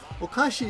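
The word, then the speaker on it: お菓子: like grapes orash okashi okashi is the General uh noun for any kind of snack any kind of snack is okashi okay now okashi means kind of crazy right you know the pronunciation difference what's this okashi this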